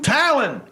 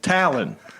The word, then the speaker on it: Talon: Talon. Oh, I thought you said Tylen. You got to fix this. Talon. Say it again. Tylen. No, Talon. Say the word towel.